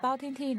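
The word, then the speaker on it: 包青天: Bao Ting Teen.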